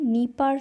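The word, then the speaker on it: Dnieper: ওকে, এবং এখানে একটা নদী আছে খুব ইম্পর্টেন্ট, নিপার নদী, এখানে ডিটা সাইলেন্ট।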